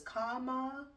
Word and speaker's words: Kamala: It was like how to pronounce her name. It wasn't debate. It was some other something she was doing. But they were like, it is Kamala.